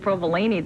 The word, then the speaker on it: provolone: Well, we were talking about the toasted provolone that V brought in last week. Provolone. Okay, Barb. I would have pronounced it correctly if you had saved me some.